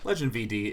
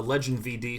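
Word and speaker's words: legendVD: ahead and take a legend VD who again wonderful youtuber look it up it's spelled like this it's led ledge NVB ledge nvd it's not legend VD it's legend VD 22 Lane's 22 swamps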